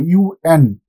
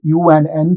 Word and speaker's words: UN: See the example, UN. I am not saying un. I am not pronouncing it as one single word. I am pronouncing these 2 letters U and N separately.